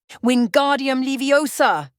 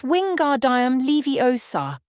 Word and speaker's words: Wingardium Leviosa: "Wingardium Leviosa!" he shouted, waving his long arms like a windmill. "You're saying it wrong," Harry heard Hermione snap. "It's Wingardium Leviosa. Make the 'gar' nice and long."